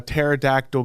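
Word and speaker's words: pterodactyl: you not hear a terod Dactyl go to the bathroom why can you not hear because the because the p is silent can't hear it because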